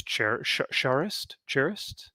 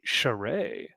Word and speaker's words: Charest: Whoa, heard it say Charest. Travis Charest. Hooray. Interesting. Well, there's a T in there, so I'm pronouncing the T. I'm saying Charist, like a Okay. true American, I guess.